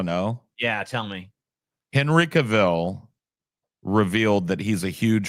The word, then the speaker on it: Cavill: You're saying it wrong. Well, I'm going to continue to say it my way. What did you say wrong? I guess I guess it's Cavl or some Who cares? It's Cavill. His name is Cavil.